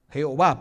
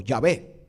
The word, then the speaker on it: Yahweh: sagradas Y hasta ahora se cree plenamente que se pronuncia ya güey o se pronuncia Jehová pero mucho mejor es yagüe o ya ve eso trata gramatón que